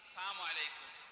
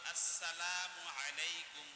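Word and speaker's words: السلام عليكم: কারণে আমরা সালাম দিই সালামু আলাইকুম সালাম হবে আসসালামু আলাইকুম জোরে বলেন আসসালামু আলাইকুম সিন এবং মিম যেন শুদ্ধ ভাবে উচ্চারণ হয় আসসালামু হলো আসসালামু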